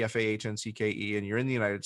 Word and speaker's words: Fahncke: I am the only, well, first of all, if you have the name Fahncke, Fahncke, and you're in the United States, you're in some branch of my family, which there aren't a lot of them.